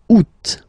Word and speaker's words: août: The first one, you don't pronounce the final T. Ou. Second one, you pronounce it août.